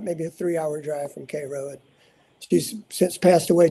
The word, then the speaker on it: Cairo: But yeah, pronounced Cairo like the syrup, like K-A-R-O.